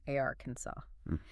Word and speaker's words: Arkansas: Looks like Arkansas, but nope. Stress on the first syllable, a r. And it ends in a saw sound. A ransaw. The final S is silent.